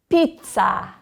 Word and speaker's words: pizza: Pizza.